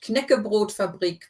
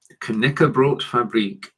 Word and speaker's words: Knäckebrotfabrik: So you do need to pronounce the K as well. It's not a silent K like in English. Knäckebrotfabrik Barilla Wasa Deutschland GmbH. Knäckebrotfabrik.